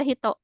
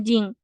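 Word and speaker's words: 人: Jepang ya ini hitonya Bukan dibaca Hito kalau digabung sama kancil lain juga kalau digabung sama kanji lain biasanya Hito itu dibacanya Jing Hito itu mungkin kalau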